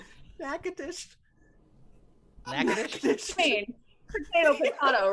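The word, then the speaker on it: Natchitoches: Cam Brown said Nacho Toadies, Louisiana. You get it? That is not how you pronounce that. Not at all. How's it pronounced? Nakadish.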